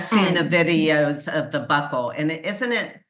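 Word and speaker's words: buccal: typical and I've seen the videos of the Buckle and it isn't it b u CC a l is that right correct so people want to pronounce it B but it's actually pronounced Buckle yeah so people can look that up too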